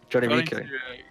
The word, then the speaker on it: JonnyREcco: Apparently it's pronounced Rico. Is it Rico? No, sure. JonnyREcco.